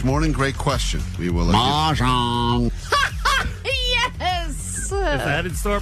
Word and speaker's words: Mahjong: Say it right, Klein. Mahjong.